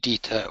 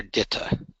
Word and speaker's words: DITA: Basically, in North America, most people pronounce it DITA. However, in Europe, most people pronounce it DITA, and that's because most European languages pronounce the letter I with an E sound.